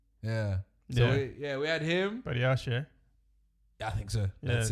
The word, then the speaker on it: Badiashile: Badiashile. Yeah, I think so. That's it. Something like that. Yeah. I think it's Badiashile. Yeah. Yeah, it's Badiashile.